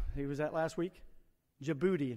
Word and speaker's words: Djibouti: that last week djibouti now it doesn't it doesn't sound like it's spelled i mean i had him spell it to me and i said that didn't really help because i think it starts with a d and i wouldn't think djibouti would be spelled with a d but he was he